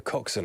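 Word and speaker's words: coxswain: oh must be intense the coxen I've heard this word before I was like coxen that's an interesting work oh it's a surname as well I have I have a not friend but genus on there he's hung on co co c o x s w a i n oh wow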